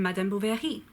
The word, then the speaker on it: Madame Bovary: bad Gustav libéré who of course wrote in Madame Bovary mat dumb bull there a fee Madame Bovary